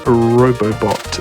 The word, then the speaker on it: Robobot: With Kirby Planet Robobot. Is that the best way? Is that how you pronounce it? Yep. Robobot? That's correct.